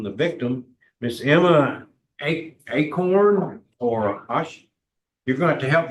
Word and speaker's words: Acorn: we'll hear from the victim Miss Emma a acorn or a you're going have to help me being from North Louisiana how do you say that last name acorn acorn okay that's what okay yes sir good morning